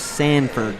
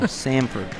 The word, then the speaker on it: Samford: And I said, "You're saying it wrong. It's Sanford." And he's like, "No, Samford."